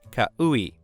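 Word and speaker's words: Kau'i: It looks daunting, but it's just pronounced Kahului.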